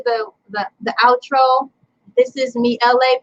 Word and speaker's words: Elay: This is me, Elay, pronounced like LA, like the city.